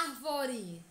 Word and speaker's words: árvore: E a palavra árvore é proparoxítona, pois a antepenúltima sílaba é tônica.